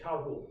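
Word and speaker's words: Cearbhall: Okay, so it looks like it's written Sirbal, and I think in John's lecture he said Sirbal, but I've heard it in Ireland pronounced Carul, King Carul.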